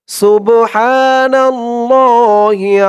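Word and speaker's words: سبحان الله: যাবে না কারণ এখানে এই বড় হা উচ্চারণটা করার সময় গলার ভিতর থেকে আওয়াজটা চিকুন হয়ে আসবে হা সুবহা নাল্লাহি না ল বলে এক আলিফ টান দিতে হবে সুবহানাল্লাহি সুবহানাল্লাহি আম্মা আম্মা এখানে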